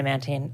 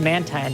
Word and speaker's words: Mantine: i used to say i used to say mantine and then um people convinced me it was man time now i say man time there's like a recent change for me like since doing psr